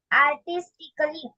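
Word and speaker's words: artistically: एस टी आय सी A double L वाय आर्टिस्टिकली कलात्मक आर्टिस्टिकली कलात्मक बघा सर्वांनी वाचायचंय तासिकेत जॉईन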